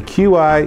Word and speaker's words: Qi: want to talk about Qi charging yes the Qi is pronounced Qi now you're know and what I